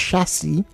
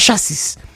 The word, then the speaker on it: chassis: The chassis, by the way, it's pronounced chassis. By the way, chassis, not chassis.